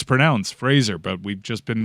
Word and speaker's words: Brendan Fraser: shoot you call him Brendan Fraser as everybody else says it but I learned through an interview with Adam Sandler that everybody's been mispronouncing Brendan Frazier's name forever it's Brendan Fraser like razor get out of here